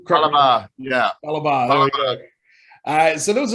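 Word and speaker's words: Fallah Bahh: Falabar.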